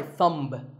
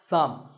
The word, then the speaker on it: thumb: this is my thumb it's not my thumb it's pronounced thumb and what about this